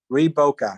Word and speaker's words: Reboca: Reboca, sorry. Oh, Oh, sorry, okay, I said it Rebecca. wrong. It's I called, said it wrong. it's called Reboca.